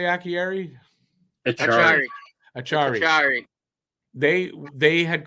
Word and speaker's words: Acciari: Achari.